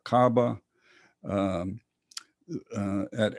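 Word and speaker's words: Kaaba: Now, this is the it's pronounced cabab or cabba.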